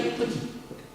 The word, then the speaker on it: petit: po e di ptit in francese si scrive Petit però si legge ptit P Sì pi voglio